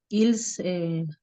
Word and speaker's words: ils: ils, ¿cómo es la pronunciación del pronombre ahí? Ils. Il, no pronuncias la S Ah, final porque sigue consonante.